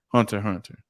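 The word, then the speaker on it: Hunter × Hunter: Hunter x Hunter. The X is silent.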